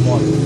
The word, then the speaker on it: Mikal: closer than personal we're my main man here Michael is that how we pronounce it but it's spelled but pronounced Michael now got to know everybody calls you